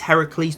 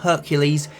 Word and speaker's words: Heracles: corruption and evil and yes it is Heracles not Hercules since he is a Greek god not a Roman one before anyone comments about